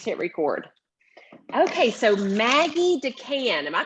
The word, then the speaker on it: DeCan: so i just hit record okay so maggie decan am i pronouncing your last name right you are perfect